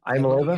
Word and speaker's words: Iamaleava: Iamaleava?